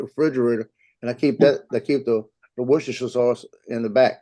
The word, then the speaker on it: Worcestershire: I made some of that Libby sausage sauce this morning and made biscuits, and I put some wash your sister sauce on it, and it tastes better.